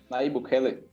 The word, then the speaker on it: Nayib Bukele: Pronuncia o nome do cara corretamente? Nayib Bukele.